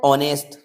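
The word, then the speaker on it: honest: अब सेम यहां पे देखिए, इसको पढ़िए, ये लिखा हुआ है ऑनेस्ट। पहली बात एच साइलेंट है, ये नॉलेज आपको होना चाहिए, तो इसको ऑनेस्ट पढ़ा जाएगा।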